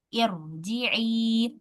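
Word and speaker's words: ارجعي: Hamzah wasalnya dibaca kasrah. Irji'i.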